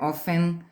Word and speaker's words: often: Always, frequently, generally, never, often, aparece com T de tatu, mas é often.